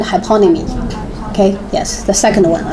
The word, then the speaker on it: hyponymy: So the stress in second syllable, synonymy, antonymy, and hyponymy.